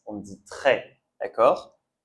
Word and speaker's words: très: Et ici, on ne prononce pas le s d'accord ? On dit pas tress, on dit trait.